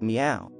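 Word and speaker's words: 妙: The character Myo is rendered in Sanskrit by the word sad, and in Chinese is pronounced miao.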